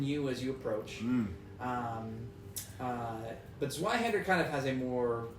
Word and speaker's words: Zweihander: Zweihander. That is Rebecca. Oh, I did misspell it actually. But hold on, this is. Zweihander. You just say like the Germans.